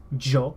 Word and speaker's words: yo: Y, which is pronounced Jo. It's the J sound in Spanish. Yo.